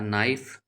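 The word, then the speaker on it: knife: L silent रहता है अ नाइफ के साइलेंट रहता है यहां पर तो एफ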